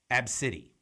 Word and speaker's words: ABCDE: name is a misspelled ABCDE pronounced AB City and when she went